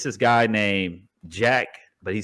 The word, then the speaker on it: JVCK: And Name then- is Jack? Yeah, it's spelled JVCK. His God-given name is, but he goes by Jack, spelled JVCK.